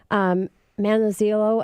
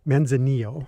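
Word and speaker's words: Manzanillo: starting out the show so Jeff I described manna Zillow a bit and did I pronounce that correctly men's Anil thank you so much shows you how much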